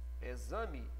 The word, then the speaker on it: exame: Então, na palavra exame, esse X é igual a um Z.